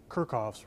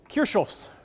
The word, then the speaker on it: Kirchhoff: Texan eyes the name in my case it would be kerkoff's rules if you want to go for the more legitimate pronunciation which professor Lewin does so I think we should it is kershel rules it's kind of fun